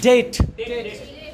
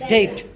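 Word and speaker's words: debt: Next one इज डेट, B would be silent and the right pronunciation is डेट।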